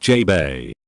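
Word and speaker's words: JBEI: Institute the mission of Jay bei pronounced Jay Bay was to produce cheap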